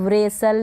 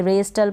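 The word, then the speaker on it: wrestle: रेसल या इस तरीके से आप नहीं पढ़ेंगे, रेस्टल पढ़ दें, गलत हो जाएगा।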